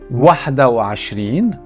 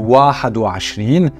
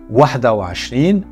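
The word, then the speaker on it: وحدة وعشرين: Wahda wa Ashrin, qu'on peut des fois entendre Wahad wa Ashrin, mais pour bien la prononcer, c'est mieux de dire Wahda wa Ashrin.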